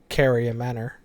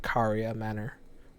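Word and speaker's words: Caria Manor: a lot of people say carry a manner which if you're a native English speaker you're probably that would come more naturally to you saying carry a manner despite everyone else in the game pronouncing it karia Manor or car in slicer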